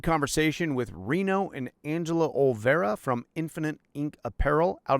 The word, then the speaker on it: Olvera: We're sitting here today with Reno and Angela Olvera. Yep. Am I ever pronouncing that right? I was pronouncing it perfect. Okay. Do you get a lot of mispronunciations? Yeah, there's Olivera, Oliver.